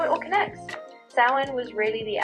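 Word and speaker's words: Samhain: Like you just said, it's one of those words that looks one way but sounds another. So, yeah, you've got the pronunciation spot on now. Sin.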